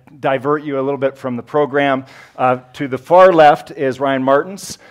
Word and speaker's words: Toth: It's pronounced Toth.